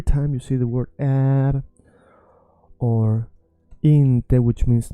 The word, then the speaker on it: är: So every time you see är, you wanna stretch and say den är där borta, and people are gonna be like, how the hell do you know this?